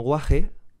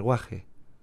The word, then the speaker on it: guaje: aspirada o h punteada este aparece en palabras como guaje y se pronuncia de forma similar a como se podría decir la h en inglés como hostel quizás con un matiz más agresivo el guaje el asturiano